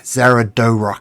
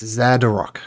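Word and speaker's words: Xardorok: Zaradorok Sunblight. Yes, the Dwargar leader in the war, warlord. Yes, that is the one. It's Zadorok. Gotta get my pronunciation right.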